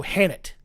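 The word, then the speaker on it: H'aanit: Oh no, Hannett. Hannett. Oh, sorry. I was thinking Annette. I'm like, no. What? I don't even. Sorry, I didn't pronounce the H enough.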